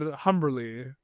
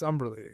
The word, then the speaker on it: Humberly: you for Utopia Falls, I pronounced the H. And like, There's a rite of passage here when my friend or not. If you still pronounce the H, you don't know me.